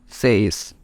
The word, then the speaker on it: seis: English called seis, and you can pronounce it perfectly by splitting this term into SE at once and IS at once, so it becomes seis.